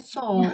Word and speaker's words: saw: Bacanya saw, W-nya nggak dibaca.